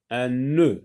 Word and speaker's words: nœud: Un nœud, uqda, un nœud. Un nœud aussi contient le son E, mais attention là, c'est le son E. Il y a une longueur dans la prononciation.